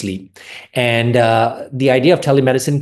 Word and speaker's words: Sliiip: So the practice name is Sliiip, spelled S-L-I-I-P, but it's pronounced Sliiip.